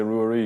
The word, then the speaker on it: Rua Rí: But I say Rua Rí because I kind of split it up.